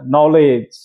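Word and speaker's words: knowledge: লাস্টে ই আছে আর প্রথমে কে আছে তো কে উচ্চারণ হবে না ইর উচ্চারণ হবে না নলেজ নলেজ নলেজ ্যাট মিন্স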